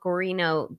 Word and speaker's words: Guarino: By the way, I saw someone in your chat saying Guarino is Italian. I know that, but the way Will pronounces it is actually how a Latino person would pronounce it.